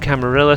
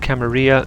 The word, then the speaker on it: Camarilla: Um, it's a Spanish word and people in the Some people pronounce it Camarilla, some people pronounce it Camaria. It it refers to the same thing usually.